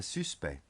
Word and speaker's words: suspect: Notice here that the C of suspect is silent. Ils ont arrêté un suspect.